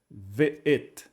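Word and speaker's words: וְאֶת: aberta por assim dizer, o vav e o shivá, v, e aqui a sílaba fechada de novo, o marcador de objeto direto, composto pelo aleph, Aleph é mudo, o tser de baixo é o som de E o tav no final, que é o som de T. Então ficaria tudo assim, ve'et, ve'et.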